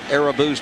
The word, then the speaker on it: Irabu: And before today's ball game, he announced a Rabu. So, if it's good enough for Bob, I guess it's good enough for me. Yeah, all the other Yankees are saying Arabu as well.